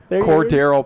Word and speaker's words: Cordell: Cordell. Cordell Patterson.